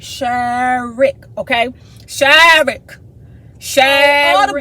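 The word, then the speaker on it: Sherrick: dude name is shirk shark um let me spell it for y'all sure sh uh s-h-e-r-r-i-c-k shirt okay forget my dc accent right sure rick okay shaving shad all the boys are hanging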